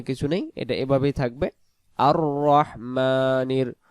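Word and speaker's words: الرَّحْمٰنِ: রহ জবর রহ আর রহ আমরা যদি পড়ি আর রহমানির রাহিম আর রাহমানির রাহিম আর রাহমানির পড়লে এখানে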